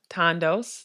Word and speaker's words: Thandos: th8 and do s condos that H is silent tha and do s